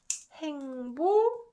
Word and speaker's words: 행복해요: And you guys notice that I pronounced this one as k. So, it's pronounced 행복해요.